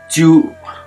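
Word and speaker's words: 中: कक्षाको दोस्रो खान्जी हामी सिक्छौँ यो खान्जी है च्यु र जिउ चाहिँ यसको उच्चारण हुन्छ है एउटा चाहिँ नाका हुन्छ एउटा उच्चारण अर्को उच्चारण हुन्छ च्यु र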